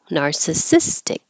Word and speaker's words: narcissistic: that makes it an adjective then usually the syllable before it is stressed so that's what's Happening Here narcissis nistic narcissistic and the name of this little thing instead